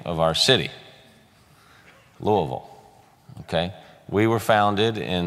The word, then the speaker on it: Louisville: our city after him so it's not louisville or louisville it's Louisville so it has three syllables and so I want